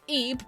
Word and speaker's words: Ib: this is the fanmade uh translation um yes EB pronounced EB young girl named Eve visits an art